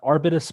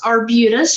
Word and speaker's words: Arbutus: Arbitus. Good morning. Very close, Arbutus, and I'm with Navy Marine Corps Relief Society.